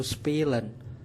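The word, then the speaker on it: spielen: anak perempuan yang dijewer bermain dalam bahasa Jerman yaitu spilen spilen spilen yang digambarkan dengan satu pil atau sepil bermain dalam bahasa Spanyol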